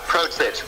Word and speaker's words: Protich: Magazine, and we are here with Red Sun Rising's vocalist Mike Protich. How you doing today? Good, man. It's actually pronounced Protich, but that's okay.